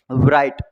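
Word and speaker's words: bright: मैंने लिखा है ब्राइट, ब्राइट मतलब होता है चमकीला, इसमें क्या साइलेंट है? देखो राइट आ जाती है तो G साइलेंट है इसमें, ब्राइट, GH भी लग रहा है उसमें साइलेंट।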